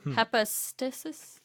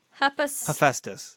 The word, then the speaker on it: Hephaestus: Followers of the god, you probably know how this is pronounced, Hephaestus? Hepatitis. Hephaestus.